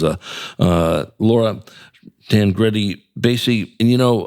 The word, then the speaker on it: Baese: That is uh uh Laura Dan Grey Basy. And you know, I was going to call you Count Basy because you told me to sit there.